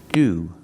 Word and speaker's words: to: sick he's sick and sometimes we pronounce the word to like this we say do do that's right it sounds like the word do but it's a fast d did it do we